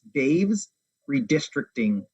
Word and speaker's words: Dave's Redistricting: spell that for us yeah dave as in david d-a-v-e-s dave's redistricting and it's a dot